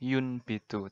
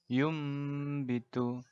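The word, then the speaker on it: يُنْبِتُ: Kata secara letterlek tulisannya yun bitu, tapi kita bacanya yum bitu.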